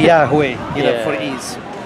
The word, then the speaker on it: Yahweh: Yahweh, Hadweh, yeah, yeah, yeah. Which we don't know precisely how to pronounce. Nobody knows. But no big deal. But for ease, they say Yahweh, you yeah.